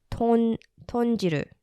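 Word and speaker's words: 豚汁: bit tricky to actually say, but it's called tonjiru. Perfect. Is it perfect? Yeah, I practiced it. Yeah. The writer was like full breaking it down, like tonjiru or tonjiru.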